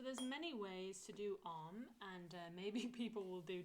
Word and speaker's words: Om: breath in, and then you're going to say the word Om. And as you're doing that, you are opening your mouth. Om. And the bit, as you put your lips together, the tongue is going to go to the roof of the mouth.